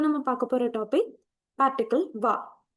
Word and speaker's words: は: இந்த வீடியோல நம்ம பார்க்க போற டாபிக் பார்ட்டிகிள் வா.